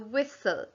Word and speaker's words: whistle: the teacher has the whistle that's actually quite tricky because the t is silent and the e at the end is silent as well what do you get